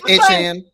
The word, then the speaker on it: Etienne: Etienne, I think his name is pronounced Etienne. That's what he said. It's Etienne.